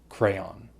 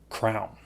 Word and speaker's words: crayon: I've always said crayon, and other people around me said crown. My wife says crayon. So there are at least 3 ways to say this.